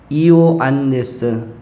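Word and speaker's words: Ἰωάννης: 요한, 헬라의 발음으로는 이오안네스 이렇게 우리로는 요한이라고 불려지는 사람이 바로 세례자 요한이었습니다.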